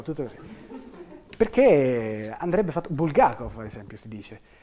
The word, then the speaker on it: Bulgakov: dicevo kev aello tutto così perché andrebbe fatto bulgakov ad esempio si dice e non bulgakov come spesso pronunciamo il do del Maestro e Margherita è